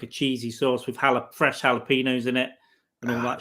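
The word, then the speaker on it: jalapeño: I never know how to say it's like jalapenos. It's a silent J. It's definitely not a J. Don't say the J. It's it's probably like jalapeno. But jalapeno's okay with our accent.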